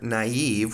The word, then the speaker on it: naive: which are naive and be careful of the pronunciation of this word and also stream use so sorry we had the word here naive which is in the first part we have